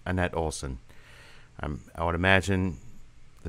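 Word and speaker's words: Anette Olzon: I don't know if I'm pronouncing her name correct, but at least as far as how it would be pronounced here in the States, it's Annette Olson.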